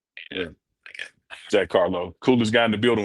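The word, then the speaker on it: Carlough: Like I would have said Carlo, L-O-W, but it's L-O-U-G-H. That's the way it's spelled. Yeah. Jack Carlo, coolest guy in the building when I leave.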